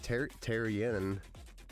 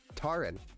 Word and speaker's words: Taran: Yeah, when I first read it, it was like Tarian, but Taran.